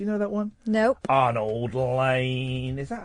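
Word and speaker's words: Arnold Layne: Arnold Lane. Is that how it's pronounced? Yeah, Arnold Lane.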